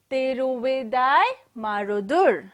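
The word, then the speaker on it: Tiruvidaimarudur: Tiruvidai Marudur.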